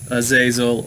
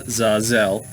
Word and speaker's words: Azazel: we'll start with azazel which you can pronounce azazel or some people pronounce it uh zazelle and azazel is a